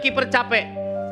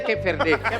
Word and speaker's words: Cape Verde: Ya, ini adalah kiper capek. Verde. Oh, bacanya Cape Verde. Saya pikir ini kiper capek.